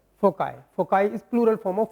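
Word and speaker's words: foci: कुछ लोग गलत भी प्रोनाउंस करते हैं, इसको बोलते हैं फोकी। इट्स नॉट फोकी, इट इज फोकाई।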